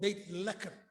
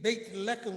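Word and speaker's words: Beit Lechem: you can see the beautiful land of bethlehem called bait lekker see that's again another change it's a long a big a far distance between baked lechem which means a house of bread and ironically they didn't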